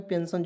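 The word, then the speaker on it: pension: यहां पे पी ई एन एस आई एन पेंशन जो लोग बूढ़ा हो जाता है उसे क्या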